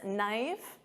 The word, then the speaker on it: knife: And of course silent K on this knife.